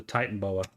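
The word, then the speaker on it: Titanoboa: I spell it Titan oh it's titanboa oh well there's there's me and aric saying it always saying it the wrong way I just called it Titan Boa I will say I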